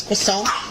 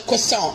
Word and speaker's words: croissant: Anyway, bacon, egg, and cheese croissant.